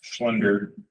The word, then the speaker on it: Schlender: I'll make a motion to hire Chris Schlender as an intern, right?